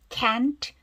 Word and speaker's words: can't: It can't, 트는 아주 약하게 발음하죠. 단어 끝에 트나 뒤로 끝난 단어 어떻게 발음한다? 아주 약하게 발음한다. 거의 안 들리시지?